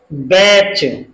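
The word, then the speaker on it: batch: अब इसमें भी लास्ट में क्या है, टी सी एच, इसको हम कैसे पढ़ेंगे, बैच।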